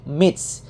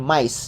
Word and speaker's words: MY-TH: Jadi kalau kita baca secara pelafalan bahasa Inggris itu digabung jadi Mitch ya. Kalau bahasa Jepangnya itu bisa dilafalkan dengan Mais ya.